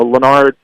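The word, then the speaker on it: Lanard: to his older brother yeah forette so so lonard forette uh he came into the season um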